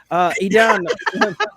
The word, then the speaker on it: Idan: pronouncing his name incorrectly, Scott. Oh, yeah, I'm drunk. Idan, Idan.